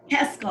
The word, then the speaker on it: Keskel: Say it for me, Katie. Keskel. Keskel. I always get it wrong.